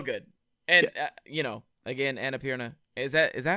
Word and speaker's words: Annapurna: so good so good and you know again anna pierna is that is that how you pronounce annapurna yeah annapurna they do they they like distribute films too